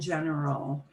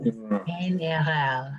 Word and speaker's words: general: You hear this word a lot because people will say, well, you know, in general.